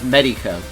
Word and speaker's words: Meytko: I grew up with it being pronounced any way you want, and I'm not one of those people that get upset when someone pronounces it wrong, but the correct way is MEYTKO.